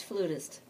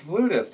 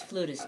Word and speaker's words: flutist: new Jazz thing and it's flutist it's flutist okay great even though uh sometimes it's spelled with f La Au yeah well Webster's Dictionary says you can use either or and James gway did the word study and said in this country it's fluish man excellent he said